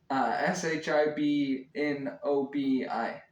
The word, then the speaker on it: SHIBNOBI: So that again, that's Shinobi, um, SHIBNOBI. Just in case you couldn't tell exactly how I was pronouncing it, but so yeah, very, very excited for that.